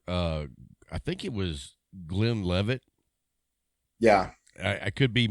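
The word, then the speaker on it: Glenlivet: bottle of 15-year uh i think it was glenn levitt yeah i i could be mispronouncing the name i'm glenn levitt yeah you got it and i already had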